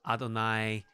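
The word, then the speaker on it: אדון: This is not to be confused with Adonai, the pronunciation of the tetragrammaton, Yahweh. No, this is actually Adon.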